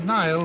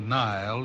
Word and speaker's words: Nile: The Nile brings out a poet's smile because it rhymes with crocodile.